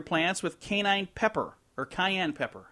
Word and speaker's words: cayenne: To keep squirrels from eating your plants, sprinkle your plants with canine pepper or cayenne pepper. How do you say? Cayenne. Not canine pepper, that's dog pepper.